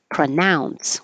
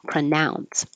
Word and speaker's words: pronounce: PR nun pronunciation and the verb is pronounce with an ow pronounce so you could ask